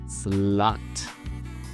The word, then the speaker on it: slut: Slut. Okay, deep breath. The Swedish pronunciation is slut.